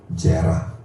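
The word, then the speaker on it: זרע: 자카르, 제라. 자카르는 기억하다. 제라, 이것도 마찬가지로 지읒 발음에 이 눈을 째려보고 있잖아요. 이 세 개하고 두 개는 에 발음입니다. 에 발음.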